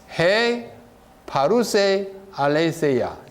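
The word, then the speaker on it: ἡ παροῦσα ἀλήθεια: 헬라어는 이렇게 읽어요. 히브리어는 이렇게 읽지만 헬라어는 이렇게 읽습니다. 헤 파루세 알레세야. 헤 파루세 알레세야.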